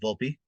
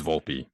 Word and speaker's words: Volpe: there by the way not is it Volpe it's Volpe that's how they have been pronouncing it in spring training games so gotcha okay um